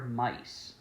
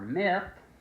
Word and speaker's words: Myth: is called Kamen Rider Mice. While it might sound like it's supposed to be pronounced Kamen Rider Myth, it's actually mice for whatever reason.